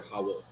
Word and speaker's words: Hawuh: And when we say thank you, it's really hawo. Hawo. Okay. It's spelled Hawuh, but it's pronounced hawo.